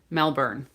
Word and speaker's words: Melbourne: but not born like the born identity movies or something. Melbourne.